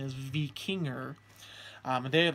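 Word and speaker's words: víkingr: letter R at the end I'm told the pronunciation is V King er today I'd like to say I'm a V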